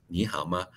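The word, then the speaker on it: 你好吗: fine in time in Chinese or Mandarin you pronounce ni Hama nihama don't do the away around okay need to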